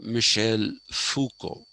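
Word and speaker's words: Michel Foucault: how it is pronounced he's a frenchman so just like we don't say renault it is reno uh michelle fuco he wrote this book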